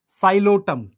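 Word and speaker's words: Psilotum: साइलोटम P silent है।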